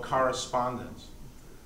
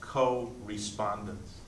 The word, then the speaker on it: correspondence: For the rest, they would call expression or correspondence. Correspondence, which can also be pronounced co-respondence, you know, two responding, the painter responding and then you responding to what he did or she did.